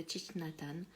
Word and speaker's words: Thich Nhat Hanh: la pleine conscience de type matane alors désolé y en a qui ne prononcent pas comme ça mais voilà mon acupuncteur